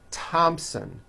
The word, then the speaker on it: Thompson: like to point out although these next words and names are spelled with a th they are pronounced as if they were spelled with a normal T TT like that and